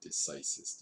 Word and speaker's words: decisis: and it actually should be decreases but we pronounce it decisis e c i s i s it literally